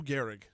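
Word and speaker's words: Gehrig: It's Lou Garri. Lou Garri.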